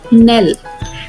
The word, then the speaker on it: knell: K is written but it is not pronounced.